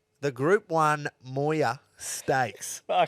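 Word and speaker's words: Moir: this is the shortest and it's called the Moya and it's spelled m-o-i-r Moya it's after a person yeah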